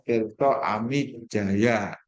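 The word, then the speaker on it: Tirtaamidjaja: Ya, tulisannya Tirto Amidjaya, tapi bacanya Tirto Amidjaya. DJ itu dibaca J, J saja itu dibaca Y.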